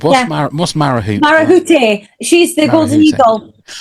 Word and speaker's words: Marahute: now, because that is all I said was Marahoot. I didn't even say it right to start with. It was Marahute, was it?